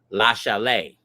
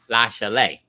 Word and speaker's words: La Chalet: But the way that the winery is pronounced is, oh Lord, y'all know me. I jack stuff up. La Chalet. French. La Chalet.